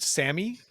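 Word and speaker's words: Salmi: have is for Alfred Sammy. And even though it has an L in it, it's pronounced without the L.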